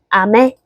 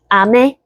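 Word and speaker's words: 飴: 그 다음에 두 번째 아메는 아래에서 위로 음정이 올라가는 걸로 발음을 해줘 봅시다. 아메, 아메.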